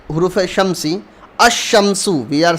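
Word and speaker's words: الشمس: Like huruf shamsi, ash-shamsu, we are saying ash-shamsu. We are directly adding tashdeed on sheen and we are not pronouncing lam here. We are not saying al-shamsu, we are saying ash-shamsu.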